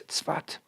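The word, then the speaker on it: צפת: northern city of Sfat, spelled in English S-A-F-E-D, I guess pronounced Safed, but in Hebrew it's Tzfat.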